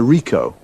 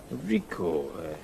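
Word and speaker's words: Ricoh: a camera what Mak a model it's a Rico Rico how do you spell that r i c o h okay got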